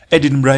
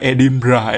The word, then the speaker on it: Edinburgh: kota edinburgh di Scotlandia edinbra ini tulisannya kalau dibaca ke dalam bahasa Indonesia tuh bacanya nya edinburg edinburg bukan edinbah edinburg cilup brah oke